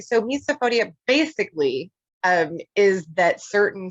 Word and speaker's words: misophonia: Can you teach us, enlighten us, because I myself didn't even know about this, misophonia? Am I pronouncing it right?